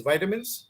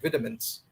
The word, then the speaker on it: vitamins: The American way of pronunciation is vitamins, and British pronounce it as vitamins.